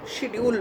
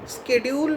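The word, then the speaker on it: schedule: দেখবে এখনকার সমস্ত অনেকে স্কেডিউল বলে উচ্চারণ করে, সব আমেরিকার তল্পি বাহক যারা, কিন্তু কথাটা কোনো দিনই স্কেডিউল ছিল না এবং ভবিষ্যতেও হবে কি না জানি না। শুদ্ধ উচ্চারণ শিডিউল।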